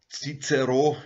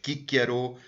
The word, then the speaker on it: Cicero: Cicero, wie er mitteleuropäisch normalerweise ausgesprochen wird, klassisch lateinisch Cicero, war ein primär bedeutsamer